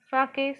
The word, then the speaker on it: sake: book, it is written the pronunciation for S-A is fa from father and K is pronounced like you pronounce way. So it is sake.